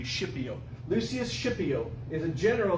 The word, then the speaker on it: Scipio: named lucius not scorpio schipio which it sounds like s-h-i-p but it's actually s-c-i-p i don't know how to be pronounced today but back in latin it would be shipyou lucius scipio is a